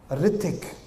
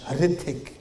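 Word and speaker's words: Hrithik: Ritik. That was his name. Hard to pronounce. Starts with an H. Ritik.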